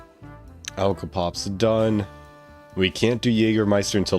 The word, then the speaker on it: Jägermeister: Good pronunciation on the Jägermeister, by the way? Really? How do you think Americans say it? Jaggermeister?